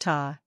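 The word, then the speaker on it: tá: say ta this word means there or yes it is pronounced ta it rhymes with the English word Raw 2.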